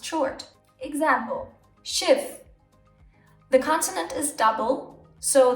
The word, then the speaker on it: Schiff: Example, Schiff. The consonant is double, so the e becomes short. It's not Schief, it's Schiff, because there's two F's.